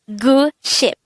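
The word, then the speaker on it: 구십: design the korean translation of this is gu ship guru means nine and ship means ten and this combined is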